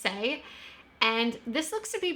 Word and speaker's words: SAIE: Apparently it's just SAIE.